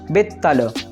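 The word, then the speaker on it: බිත්තර: It would be pronounced bittala. First you will stop your vocal tract after pronouncing bit and then pronounced tala again.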